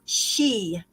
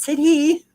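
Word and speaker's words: sidhe: associated with the s-i-d-h-e this is pronounced she not said he all right she prominent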